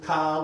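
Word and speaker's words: k'a: here's Ka okay cool here's Ka with that with a apostrophe so it's a glottal stop I'm terrible at it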